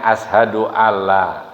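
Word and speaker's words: أشهد أن لا: bukan manla ya jadi seperti Ashadu anla tulisannya ya tapi dibacanya Ashadu Alla ya Hayya Alal Shah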